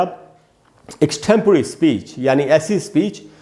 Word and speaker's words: extempore: इसको हम लोग एक्सटेम्पर या एक्सटेम्पोर इस प्रकार से बोलते हैं, सब गलत उच्चारण है। सही उच्चारण क्या है दोस्तों? एक्सटेम्पररी। एक्सटेम्पररी इस प्रकार से पढ़ेंगे।